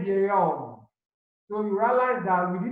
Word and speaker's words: vieil homme: There is liaison over here, so this sentence is pronounced un vieil homme. So you realize that we didn't say un vieux homme.